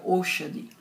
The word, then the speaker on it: Aushadi: E essa palavra se pronuncia Oshadi.